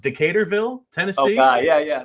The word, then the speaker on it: Decaturville: So being a native of, I think it's pronounced Decaturville, Tennessee. Oh, God. Yeah. Decaturville.